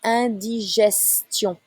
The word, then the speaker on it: indigestion: Avoir une indigestion. Avoir une indigestion. It's not a S sound. It's not indigestion in English. Indigestion.